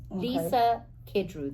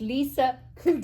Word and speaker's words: Kudrow: Lisa Kudrow, that's how you say it. No, I said it wrong. It's Lisa Kudrow.